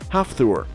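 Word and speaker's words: Hafþór: those who are curious his first name is pronounced half Thor number one Olivier Richter's out of everyone on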